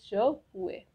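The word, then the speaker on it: je pourrai: The first one इज I will be able, which will pronounce as ज हुए, ज हुए।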